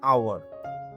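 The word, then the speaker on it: hour: আওয়ার, আমরা লিখি আওয়ার, এখানে এইচ আছে কিন্তু উচ্চারণে এইচ এর সাউন্ড শোনা যায় না, তাই আমরা বলি অ্যান আওয়ার।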